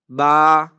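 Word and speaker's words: ب: Letter number two is Ba. Ba. Ba. It is pronouncing from our lips, the wet area of our lips.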